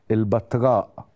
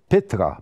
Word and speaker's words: بيترا: المنطقة المسمى حاليا البتراء، وبعض الناس بتنطقها خطأ البتراء، هي مش البتراء، البتراء يعني المقطوعة، هي الكلمة يونانية بيترا، بيترا صخرة، المنطقة الصخرية يعني.